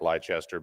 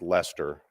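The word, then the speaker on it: Leicester: the for the record the word looks like lichester but it's pronounced Lester it's one of the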